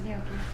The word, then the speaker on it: gnocchi: Please go make gnocchi at home. Should we get someone else? Sarah, would you like some gnocchi? I thought you never asked. Sarah, how do you pronounce gnocchi? Gnocchi. Gnocchi. Gnocchi, like Snooki.